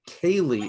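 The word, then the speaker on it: ceilidh: viewers who may not know exactly what a kaylee is it's spelled c-e-i-l-i-d-h a kali uh literally it means a visitor gathering it's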